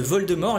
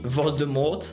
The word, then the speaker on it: Voldemort: C’était aussi le cas de Voldemort, les anglais avaient tendance à prononcer le t Voldemort ! Alors qu’il ne faut pas !